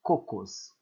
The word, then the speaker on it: Cocos: e a do Cocos, essa é a pronúncia, ok? Cocos.